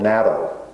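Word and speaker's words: natto: famous Japanese food a fermented soy food called NATO I think it's spelled n a t t o um but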